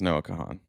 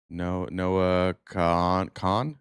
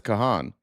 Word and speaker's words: Noah Kahan: That's Noah Kahan. So, okay, then I do know who that is. So, I feel like this is called manifesting. You don't pronounce the H. Noah Khan.